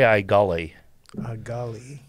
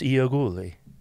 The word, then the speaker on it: Iagullis: own furniture company and they came up with a simpler way of saying the last name so we say iully iully but uhuh it's euli oh I like that